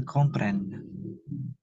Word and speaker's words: comprennent: N-nya 2, bacanya pren. Mes enfants le comprennent.